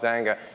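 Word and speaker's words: Xanga: It's called Zanga. It's spelled with an X.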